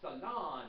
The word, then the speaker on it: salon: getting a manicure Salon you guys think Salon it's Salon second syllable okay okay okay okay